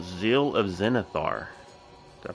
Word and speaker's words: Zenithar: But yeah, so we have an event coming called Zeal of Zenithar. Did I pronounce that right?